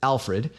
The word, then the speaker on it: Alfred: In this word, the stress lands on the first syllable, alf.